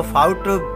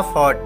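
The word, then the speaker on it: fought: इसको फाउट भी बोल सकते हैं, लेकिन सही जो इसका प्रोनंसिएशन उच्चारण वो है इसका फॉट.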